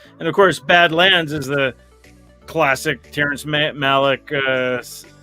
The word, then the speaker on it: Badland: It's Badland, not Badlands, and of course, Badlands is the classic Terrence Malick, Sissy Spacek, Martin Sheen movie from the 70s.